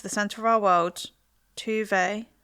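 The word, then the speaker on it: Tove: Welcome to the centre of our world, Tuve. Is that how you say it? Yeah, like Tuve Lo.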